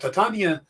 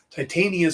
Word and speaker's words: Titania: Titania is more of a Shakespearean way of pronouncing the name. Titania sounds more like something Marvel would use.